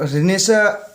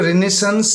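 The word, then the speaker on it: Renaissance: Related यहाँ पे, तो रिनेसा जो इसको रिनेसेंस ना पढ़ के रिनेसा इसको पढ़ा जाता है, इसका प्रोनाउंसिएशन।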